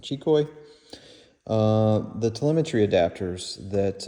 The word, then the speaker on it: Xicoy: want to say it here in the US everybody says zco but I think they pronounce it chicoy uh the Telemetry adapters